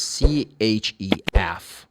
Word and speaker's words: chef: But CH can be pronounced like this. This is an exception. For example, chef of a restaurant is CHEF, chef.